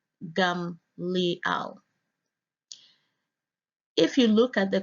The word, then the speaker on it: Gamaliel: Strong's H 1583 and pronounced there as gum Liao if you look at